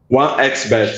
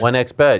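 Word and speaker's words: 1xBet: How do you say it? Your sponsor. 1x bet. 1x bet, yeah.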